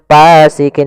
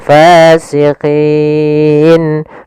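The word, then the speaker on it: فاسقين: Jangan pasikin dengan p gitu ya. Banyak yang mungkin ada yang membacanya dengan pa gitu ya, dengan p ya harusnya tidak dibaca dengan p. Kemudian pada lafal fasiqin.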